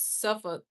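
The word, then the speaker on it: Suffolk: You don't pronounce the L. It's suffoc but spelled suffoc. Okay. I've been saying like that. Okay. I was in suffuk.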